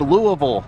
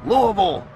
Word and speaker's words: Louisville: They're like, it's pronounced Louisville, Louisville.